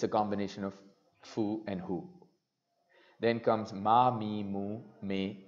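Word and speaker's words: ふ: hee hoo hey ho this is actually an exception as well it's like a mixture of foo and hoo so it's like a who Fuji Mount Fuji tofu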